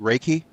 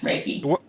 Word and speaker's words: Reiki: a you're a medical Reiki master did I pronounce that right raiki yes raiki what what is that exactly what is that